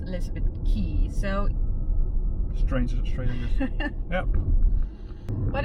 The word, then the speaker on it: Elizabeth Quay: Elizabeth key we saw the name and thought Elizabeth Quay but apparently it's pronounced Elizabeth key so strange Australia yep but it's a fun